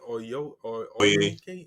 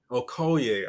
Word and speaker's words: Okoye: I mean, Yeah, the fight between is it Oye, Oyenke or how you pronounce it? Say it again. Okoye. Okoye. I keep saying Oyoki. Okoye.